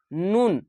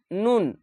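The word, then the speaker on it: ن: লাগিয়ে হবে লাম এভাবে ভাবে নয় নাম্বার মাখরাজ নুন নুন জিহ্ভের গোড়া এবং তার বরাবর উপরের তালুর সাথে লাগিয়ে উচ্চারিত হয় নুন নুন উপর তালুর সঙ্গে লাগিয়ে হবে নুন উপরের তালুর নুন এই দাঁতের সঙ্গে লাগবে না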